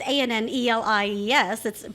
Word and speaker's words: Annelies: It's Annelies. But it's spelled Annelies, and so people see it and they go, "Well, it can't be Annelies," which is the way it's actually pronounced, because that's usually Anna,